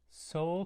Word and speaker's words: Seoul: Seoul is spelled, of course, like the city, Seoul, this capital city.